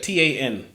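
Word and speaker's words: Tairn: was arguing with t t tan tan I spell it t a n okay how it's pronounced in the book is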